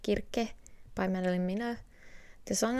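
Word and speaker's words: Circe: our mythology section so cersei or how it should be pronounced kirke by marilyn mina the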